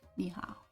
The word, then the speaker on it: 你好: So here we see that these, which you can hear, are pronounced ni hao.